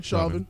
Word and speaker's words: Chauvin: How you pronounce his name? Chauvin.